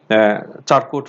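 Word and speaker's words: Charcot: এটাকে আমরা বলি চারকোট ফুট, অনেকে উচ্চারণ সার্কো ফুট বলে, CHARKOT।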